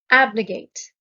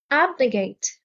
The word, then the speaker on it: abnegate: washing cleansing purification abnegate the stress is on the first syllable abnegate abnegate means to deny comfort